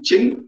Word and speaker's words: Qing: overthrown in 1912 was the qing dynasty chin pronounced with a cube that is q-i-n-g oh sorry spell it